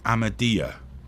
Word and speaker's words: Ahmadiyya: a particular branch or sect of Islam called a madea is that correct you pronounce it perfectly absolutely check me out one